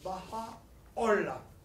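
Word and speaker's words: Bahá'u'lláh: Le nom est difficile à prononcer. Le H est aspiré.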